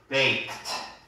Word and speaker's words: baked: they are boiled before baked. 여기서 크가 그 무성음이라 그래서 그 약한 발음이거든요.